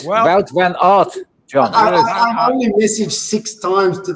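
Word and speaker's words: Wout van Aert: John, it's it's Wel von art. That's it. Wel van art.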